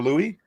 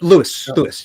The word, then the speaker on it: Lewis: And when I see Lewis, or Louis? Yep, Lewis.